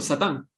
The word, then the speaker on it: satán: segundo templo no existe el término satán se pronuncia en hebreo igual como nosotros lo decimos en español satán y sacan aparecen muchas